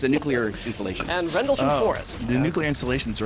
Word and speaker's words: Rendlesham: Bentwoods. How do you spell- Rendlesham.